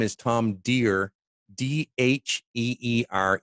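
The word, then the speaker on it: Dheere: his name is Tom dear DHE are e and the age of silent the H is silent as he likes his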